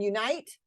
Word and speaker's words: unite: Please notice though that we don't always stress the first syllable in the words elope, erase, hotel, and unite. Those have second syllable stress.